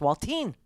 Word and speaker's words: Walt: NADA it's just saying his name's not Walter it's waltin rhymes with salting salted okay well that is